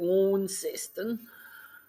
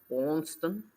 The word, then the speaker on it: Launceston: As people up here call it Launceston. Launceston. And I look at people like, where's that? Oh, that's where you're going in. No, it's not pronounced like that.